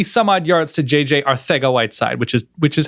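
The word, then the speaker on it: Arcega-Whiteside: hundred and twenty some odd yards to JJ our thing a white side which is which is how you pronounce it right correct um now you now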